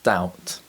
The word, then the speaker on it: doubt: b sounds there are several common words which contain the silent letter p such as psychology and the silent letter b such as doubt to produce the t